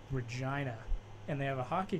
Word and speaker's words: Regina: And Mark, get this: there's a town called Regina, and they have a hockey team named the Pats. So Regina Pats. Regina Pats. Interesting. The city that rhymes with fun.